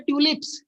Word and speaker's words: tulips: ट्यूलिप्स। क्या बोलते हैं इसको? ध्यान से सुनिए, टू नहीं है, ट्यू है, ट्यूलिप्स।